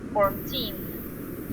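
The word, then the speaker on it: fourteen: remember that this is for example 14 the stress is on the second syllable 14 okay 40 this number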